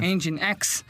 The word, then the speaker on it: Nginx: O Nginx, que se escreve em português NGINX, INX, Isso. que seria, na verdade, motor X, Isso. Engine X, ela é uma ferramenta de cache.